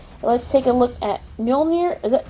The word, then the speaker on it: Mjölnir: Let's take a look at Mjölnir.